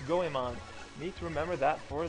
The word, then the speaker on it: Goemon: For the longest time, I've always pronounced it Geomon. And to me, that is what it's supposed to be, even though it's Goemon.